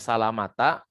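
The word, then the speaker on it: سَلَمَةَ: Bacanya salamata karena dia isim ghairu munsharif ya, dibaca majrur dengan fathah.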